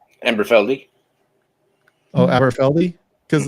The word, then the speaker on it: Aberfeldy: Aberfeld? Amberfeldy. Oh, Aberfeldy?